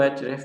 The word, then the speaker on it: Ahrefs: तो क्योंकि वो AHREFS बोलने की बजाय इसको एचरेफ ज़्यादातर प्रोनाउंस किया जाता है।